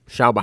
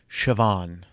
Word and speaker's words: Siobhan: BA ugh how would you how would you pronounce that shalba how in a lot of people would pronounce it Chabon it's Siobhan yeah yeah yeah yeah got it exactly on